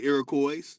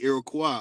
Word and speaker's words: Iroquois: Some say Iroquois, but it's really Iroquois. O-I-S at the end is a French pronunciation of Y, but really, it's way. O-way.